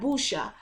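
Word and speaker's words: buchu: natural nerve relaxant and then you also have busha which is spelled b u c h u which is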